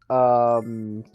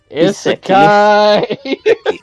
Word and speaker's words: isekai: of that vaguely new Iseki about a 50-year-old salaryman who Not even how it's spelled, man. Isekai. Seriously, man.